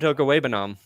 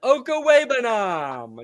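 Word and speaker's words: Okwuegbunam: Do you know how to pronounce his last name? Albert Okawebanam. Albert Okawebanam.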